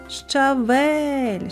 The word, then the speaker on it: щавель: визначимо куди падає наголос покличемо щавель щавель наголос падає на звук е наступне слово борщ запишемо